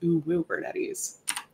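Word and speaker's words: Uwubernetes: reading that online and wondering how to pronounce it it is O bernes uh my name is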